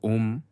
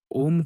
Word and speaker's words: ओम: इसका शुद्ध उच्चारण खुले मुख के साथ औष्ठों को सिकोड़ कर ऊ तथा ओष्ठों को पीछे लाकर म ध्वनि निकालने से होता है।